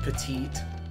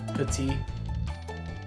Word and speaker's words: petite: like died when they said petite instead of petite that's like that's like French 101 you're not supposed to pronounce the last consonant though I will say